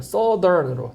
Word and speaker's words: southern: 발음이 아주 중요한 건 아닌데 이게 south에서 ERN으로 바뀌면 발음이 바뀌어요. southern으로 특이하게.